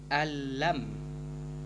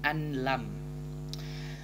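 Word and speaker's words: أن لم: Maka cara membacanya bukan an lan, namun jika digabung cara membacanya adalah alam, yaitu tidak dibaca nun, langsung ke memasukkan ke huruf lam. Alam, bukan anlam.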